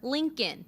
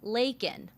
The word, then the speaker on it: Laken: illegal critics pointing out he called her Lincoln instead of Laken others zeroing in on